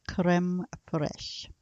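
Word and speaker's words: crème fraîche: um it is c-r-e-m-e-f-r-a-i-c-h-e but it is pronounced creme fresh that's similar to sour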